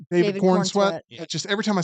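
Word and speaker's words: Corenswet: his name right David Corn sweat just every time I say it it doesn't feel right It sped like Corin sweat but it's pronounced corn sweat corn sweat corn sweat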